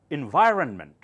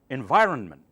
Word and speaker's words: environment: Environment, environment, environment. Do not say environment. That's wrong, okay?